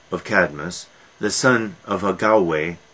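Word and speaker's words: Agave: cadmus the son of agaway a g a v e or a-g-a-u-e is spelled both ways and she when dionysus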